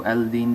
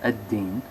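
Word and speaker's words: الدين: of the video so d is a sun letter so aldine becomes a din and then we're going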